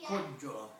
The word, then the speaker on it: Coggiola: Was an ancient Piedmontese name that in Italian is pronounced Coggiola, C-O-G-G-I-O-L-A.